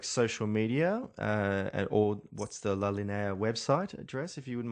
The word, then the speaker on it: La Linea: How do you pronounce it? Linea? La Linea. La Linea.